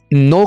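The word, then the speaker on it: know: ठीक है, नो का माना होता है जानना। यहाँ पर हम के को साइलेंट रखेंगे।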